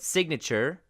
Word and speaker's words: signature: When sign becomes signature, the G is pronounced again. So sign, silent G, but signature, G, signature, it's pronounced.